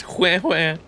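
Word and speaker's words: Huohuo: Pokey was saying when he would refer to Ho Ho as Hue Hue. I thought the pronunciation was just wrong or something and I like wasn't saying it right this whole time.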